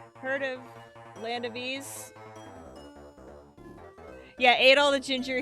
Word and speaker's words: Ys: money money money it's actually pronounced ease from the french legend of the mythical site okay yeah i know